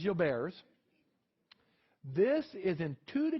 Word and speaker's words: Gilbert: french physician all right the correct pronunciation is you'll bears it is not gilbert's it is your bears this is in two